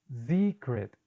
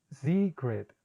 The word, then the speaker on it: secret: vamos con otro ejemplo la palabra secret secret se ha notado en mi pronunciación yo sonrío cuando hago la larga básicamente el sonido es muy parecido al español pero debemos exagerar un poquitico al estirar más los labios porque veremos que es